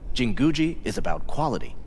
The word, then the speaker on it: Jinguji: he keeps going jingoish i'm here welcome to jinguji aha was right on the pronunciation i'm so awesome can i talk to